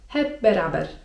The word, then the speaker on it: hep beraber: Z kolei jeżeli my kichniemy i ktoś nam właśnie będzie życzył 'çok yaşa' to możemy na to odpowiedzieć: hep beraber (czyt. hep beraber) I to dosłownie oznacza wszyscy razem.